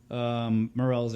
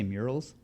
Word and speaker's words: morels: You say murals? Murals? How do you say it? Morels. Morels. Morel. Morels. There we go.